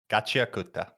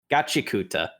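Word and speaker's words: Gachiakuta: Oh gosh, I can't even pronounce the name of the darn thing. Gatchiakuta. Gatchiakuta.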